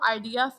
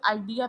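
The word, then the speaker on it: idea: इसे आइडिया नहीं प्रोनाउंस करते। इसे आईडिया प्रोनाउंस करते हैं। यहां पर स्ट्रेस दूसरे से लेवल पर है।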